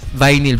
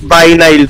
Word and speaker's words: vinyl: Hindi talaga viny ang pronunciation sa kanya sir. It's vinyl po.